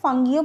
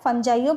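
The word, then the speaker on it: fungi: এটাকে ফাঙ্গিও বলা হয়, ফানজাইও বলা হয়, উচ্চারণ করা হয়।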